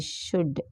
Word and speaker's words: should: S H O U L D. Should L is silent.